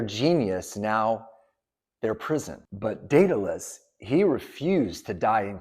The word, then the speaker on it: Daedalus: By the way, there's many ways that you might pronounce Daedalus. It could be Daedalus, it could be Daedalus. I'm just going to say Daedalus.